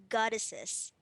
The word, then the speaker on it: goddesses: form of Goddess so you pronounce this with the es sound at the end so we pronounce this as goddesses alright okay kids how